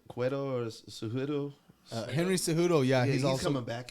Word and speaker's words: Cejudo: Henry Cejudo, yeah, He's also coming back, isn't he? Yep, he's gonna be fighting that night too against Aljamain Sterling. So Henry Cejudo, he's 16-2.